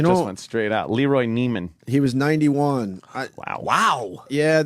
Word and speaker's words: Neiman: Nivens. Is it Nivens or? Oh, Neiman.